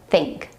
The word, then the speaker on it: think: Let's practice the word think. Stick out your tongue between your top and bottom teeth. Your tongue needs to be a little tense. So, don't do this. It needs to be like this. Now, in real life, English speakers don't stick their tongue out this far. and only the very tip of the tongue will be sticking out through the teeth. But in this case, it's necessary to exaggerate in order to get the sound right.